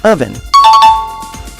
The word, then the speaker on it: oven: keep in mind so instead of saying oh then you say oven this is one of